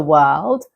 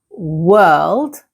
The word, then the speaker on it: world: The second is world. Now, this is a little bit harder because you have to pronounce the R and the L together.